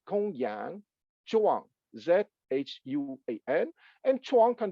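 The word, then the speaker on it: Gongyang: Gong is Gong, and for those who know a little bit of Chinese, the G in alphabet transliteration is pronounced like a K, like in kangaroo. So it's Gong Yang Zhuang, Zhuan, and Zhuang can be translated as transmission, tradition, interpretation.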